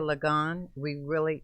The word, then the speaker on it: Ligon: Ligon, did we say it right this time? Yes, Ligon.